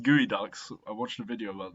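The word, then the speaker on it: geoduck: These are actually pronounced gooey ducks.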